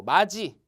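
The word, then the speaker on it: 맏이: 예를 들게 되면 이제 뭐가 있냐면은 뭐 마지. 자, 첫째죠, 첫째. 마지라 그랬죠, 마지, 그죠? 근데 마디라고 안 하죠. 마지라고 해서 보통 뒤에가 지읒 발음이 났는데도 불구하고 어떻게 간다? 디귿으로 쓴다는 얘기죠, 그렇죠?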